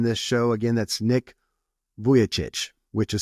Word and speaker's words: Vujicic: with us in this show again that's Nick vichich which is spelled vuj I I typee that in you'll